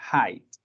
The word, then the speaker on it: height: este sería height cierto no se confundan por lae pero se pronuncia height me habla de altura